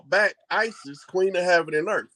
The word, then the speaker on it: Isis: And when they wake up, they call back Isis, Queen of Heaven and Earth. What's the first syllable of that name? Right. The first syllable, not letter. Is that Ice? Ice? Okay, Ice. No, Ice.